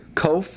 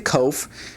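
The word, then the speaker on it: קוף: So the cough and the kof have pronunciation very much the same, but this has a k sound such as in the word queen or in the word baroque.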